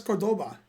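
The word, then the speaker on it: Córdoba: because against the country i can't you can cordova yeah yes cordoba how do you spell it i-l-l-e-s-c-a-s is yes and cordoba is like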